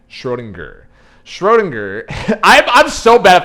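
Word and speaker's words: Schrödinger: to get this wrong I forget if it's schroen jur or schroen gur I think it's I think it's a hard G schroen gur Schrodinger I'm I'm so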